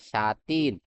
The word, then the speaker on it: sateen: সাটিন আরেকটা হচ্ছে সাটিন মানে একটু টান দিয়ে হচ্ছে প্রোনাউন্সিয়েশন করব কি এফ এটি ডাবলই এন সাতিন এখন দুইটার হচ্ছে কনস্ট্রাকশন